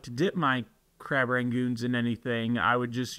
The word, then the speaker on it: crab rangoons: loved a crab rangon crab Ragu I don't know how you say it I like crab Ragu but if you look it up it's crab rangoons crab rangoons and they'd